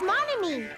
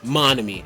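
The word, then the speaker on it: Monomi: scary face i'll tell you you know it's mommy oh sorry monomy i said it wrong yes it was me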